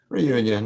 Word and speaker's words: Réunion: Reunion, yeah.